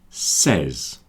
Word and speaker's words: says: Says, says. There are three sounds. S, e, z.